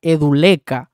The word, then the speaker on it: Edu Lecca: Ok, se pronuncia Edu Leca.